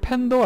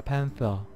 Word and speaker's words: 팬서: 남면 사드리겠습니다 는 어 블랙 팬더 아니죠 블랙 팬입니다 팬서 th 발음이 노홍철씨가 잘하겠네 블랙 팬터 블랙 팬더 아니고 자 다음 캐릭터도 기대해